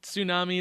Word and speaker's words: tsunami: to Sami tsunami it's like potato potato right very few words where the t is silent and they all sound wrong yeah right they